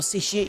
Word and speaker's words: satiate: We'll satiate your curiosity. You'll never know. Satiate. Ooh, big word. Oh my gosh. Chat's evolving. You're using words with 3 syllables. Satiate. Yeah, satiate. 3 syllables.